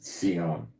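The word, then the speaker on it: ציון: It's pronounced seion. The English is Zion, travailed.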